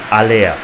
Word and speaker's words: Haller: Unser Stürmer wird nicht Haller ausgesprochen, sondern Aller.